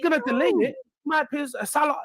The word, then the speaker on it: Salah: My peers, Salah, like I feel like sometimes you need to look at the reality of how these play together.